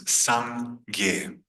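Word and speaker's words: སངས་རྒྱས: 2 syllables, Sangye.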